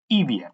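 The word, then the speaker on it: IVIE: with the first text ibia i'm pronouncing it in italian as we are in a kind of italian channel so the eva is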